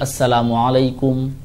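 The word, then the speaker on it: السلام عليكم: और दूसरा जो मसला आपका है सलाम के बारे में, कि सलाम करने का जो सही तरीक़ा है वो अल्फाज का पूरा प्रोनाउंसिएशन होना चाहिए। अस्सलामु अलैकुम, अस्सलामु अलैकुम व रहमतुल्लाह, अस्सलामु अलैकुम व रहमतुल्लाहि व बरकातुहू।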